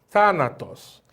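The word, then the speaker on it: θάνατος: os thanatos palavra thanatos thanatos é uma palavra que tem três sílabas aonde nós percebemos que a primeira sílaba é acentuada e essa primeira sílaba antepenúltima é porque a última é essa a penúltima é essa e antepenúltima elas é para que ela tenha um acento agudo agudo na antepenúltima silva dando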